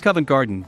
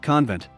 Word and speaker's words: Covent Garden: That it's Covent Garden, not convent.